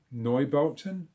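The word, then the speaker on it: Neubauten: Germany uh einsters in the new neubota I think is how you pronounce it it's German for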